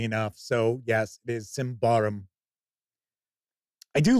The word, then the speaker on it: Symbaroum: But I guess I've had people get mad that I don't take the pronunciation of this game seriously enough. So yes, it is Symbaroum.